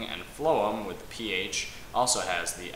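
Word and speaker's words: phloem: remember this is that food has the F sound at the beginning and flum with ph also has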